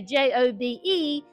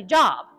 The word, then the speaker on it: Job: So if you were to write down letters to pronounce possibly how you would pronounce it, you might would say J-O-B-E, just so that you don't say job, right?